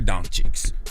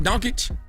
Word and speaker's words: Dončić: Now, if you haven't heard, the Dallas Mavericks traded Luka Dončić. How you pronounce his name? Dončić?